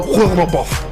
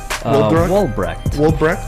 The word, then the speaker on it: Woldbrecht: Woolbuff. How do you say your last name? Woldbrecht. Just like it's spelled. It's not that hard.